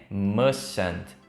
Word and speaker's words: mustn't: Tem duas letras T. A primeira letra T você não vai pronunciar e a segunda você vai pronunciar bem leve, não precisa forçar tanto a pronúncia.